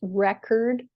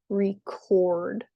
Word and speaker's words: record: As a verb, the second syllable is stressed. Another example is record and record.